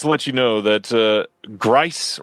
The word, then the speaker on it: Grice: Ronnie also wants to let you know that Grice rhymes with rice. Oh, my bad, Roni.